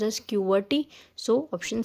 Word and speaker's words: QWERTY: So option C, QWERTY, it is known as, pronounced as QWERTY.